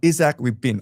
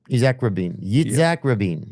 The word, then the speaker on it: Yitzhak Rabin: Isaac Rabin. I'll spell it for you, okay? Isaac Rabin. Yitzhak Rabin.